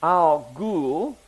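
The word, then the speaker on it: Algol: it is right here Alo are sometimes pronounced Al ghoul have you ever heard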